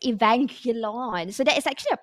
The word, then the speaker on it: Evangelion: event from pubg mobile a pubg mobile x evangelion so that is actually a way to pronounce it initially it's like avenger lawn but it's i was doing a little bit